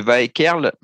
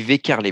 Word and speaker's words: Waekkerle: Et elle dit Monsieur Vaekerle, ça se dit Vekerle, mais ça s'écrit Waekkerle.